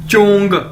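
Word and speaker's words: 中: ये देखें, next word है हमारे पास ZHONG, चोंग, चोंग, चोंग। कैसे बोलेंगे इसे, जैसे चोंग, चोंग, ZH यानी चे। चाइनीज में ZH को चे के तौर पर प्रोनाउंस करते हैं, यानी चोंग, चोंग।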